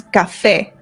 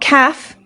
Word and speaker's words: café: So our first one is café. Café. This is coffee. Café. Not calf. Café, no. Ca-a. The A makes an A sound.